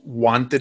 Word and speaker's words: Huante: And then for me, it's Huante Talk. So Huante, Huante, like glove in Spanish for all you Spanish speakers out there.